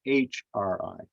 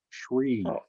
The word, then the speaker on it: Sri: should mention that that it looks like it's sri but it's actually pronounced as shri shree yeah you wouldn't know